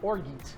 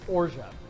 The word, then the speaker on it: orgeat: We're also going to be using what's called ora or some people like to call org but it's actually pronounced ora.